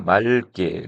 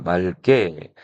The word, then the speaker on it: 맑게: 리을 기억은 자 우리가 기억을 발음했었는데 자 이렇게 리을 기억 다음에 뒤에 기억이 오게 되면 이럴 땐 리을 플러스 리을만 발음이 되고 예사소리 기억은 된소리 쌍기억으로 바뀌어 버렸네요. 자, 그래서 맑게, 리을 기억 다음에 기억,